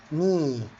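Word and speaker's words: knee: حلقات قواعد النط طبعا اتكلمنا ان الكي لما بيجي وراها حرف الان الكي لا تنطق زي الكلمه اللي قدامنا ني تمام وزي كلمه نايف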